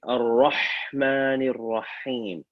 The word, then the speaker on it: الرحمن الرحيم: Ar-Rahmani Rahim. First ha should sound like the second ha at the same time.